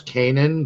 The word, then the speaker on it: Kanan: Phoenix team Logan um there's a couple there's Kanan there's uh Zeb okay uh wanted me to